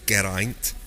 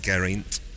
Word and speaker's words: Geraint: It's Geraint, pronouncing every letter, not Geraint.